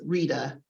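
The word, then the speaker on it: Reada: And this is Rita, and pronounced R-E-A-D-A.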